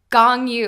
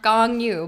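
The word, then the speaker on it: Gong Yoo: My biggest one is gong yu. I always say gong, like the instrument, gong yu, but it's gong. Gong yu.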